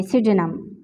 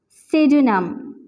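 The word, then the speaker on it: pseudonym: तो ये तीनों वर्ड भी हमने डिस्कस कर लिए जिनमें हमारे पास इंग्लिश लैंग्वेज में फर्स्ट अल्फ़ाबेट जो है P वो सब में साइलेंट है, S का साउंड सबसे पहले जो है प्रोड्यूस हो रहा है, ठीक है।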